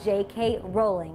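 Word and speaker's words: J. K. Rowling: in this game if you chose is pronounced JK rowling and it's plastered all over those seven books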